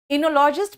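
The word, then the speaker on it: oenologist: कुछ नेक्स्ट इनो लॉजिस्ट बेटा इनो में ओ साइलेंट है इनो लॉजिस्ट भाई यह बनाते हैं शराब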